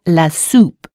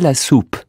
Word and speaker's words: soupe: Marie n'aime pas la soupe. U or U? That's right, there's an OU in soup, so the sound is OO. Marie n'aime pas la soupe.